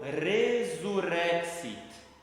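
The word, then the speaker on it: resurrexit: E por fim, esse X ele sempre vai ser com a fonética de KS e não de S ou C, enfim.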